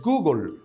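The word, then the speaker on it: googol: alto conocido te cuento existe un número que se escribe gogol y su pronunciación en el inglés es google nombre acuñado por el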